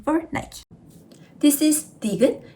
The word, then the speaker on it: 디귿: This is 디귿. It sounds D. D sound like Dynamite.